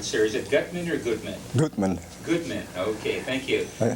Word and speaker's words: Guttman: Guttman, maybe, let me get the pronunciation right, sir. Is it Guttman or Guttman?